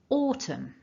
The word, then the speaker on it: autumn: can also see that the first syllable gets the stress because of that blue